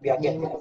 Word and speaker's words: Piaget: Bacanya yang Piaget, yang Piaget, pria dari Swiss.